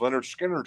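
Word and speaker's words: Lynyrd Skynyrd: it's fantastic we have Leonard skinnard pronounced Leonard skinnard $19 as well is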